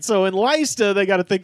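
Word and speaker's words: Leicester: t e r l all right so in Lista they got a thing called the spidergate cemetery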